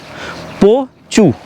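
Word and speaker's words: Pho Chhu: এটা পুনা খাতে অবস্থিত ফুচু নদীর উপর বা ফুচু যেটা বলছিলাম একচুয়ালি উচ্চারণ হচ্ছে পি ও সি এইচ এইচ ইউ পচু বা ফুচু এনারা ফুচু উচ্চারণ করছেন।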